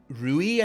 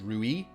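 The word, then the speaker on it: rouille: has made uh the the ruie I think is how it's pronounced it's like a it's it's basically like a mayonnaise style sauce that they make that goes with a bullia BAS I think it's pronounced ruie but apologies because I don't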